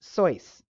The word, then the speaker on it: Seuss: Seuss, although, by the way, I learned very recently that his name is actually pronounced Seuss. Okay? I mean, no one outside of him and his family care, but it's actually Seuss.